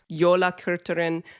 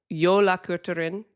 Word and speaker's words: Jólakötturinn: has a cat, Jólakötturinn. The emphasis She gave me this tip. The emphasis in Icelandic is always on the first syllable. So, you never Interesting. So, Jólakötturinn, I think.